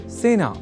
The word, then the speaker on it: सेना: अतः सेना इस शब्द के उच्चारण में ए इस स्वर वर्ण या अक्षर का ही प्रयोग किया जाना चाहिए ना कि ऐ का।